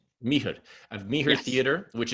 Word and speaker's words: Mihr: How do you pronounce Mihr.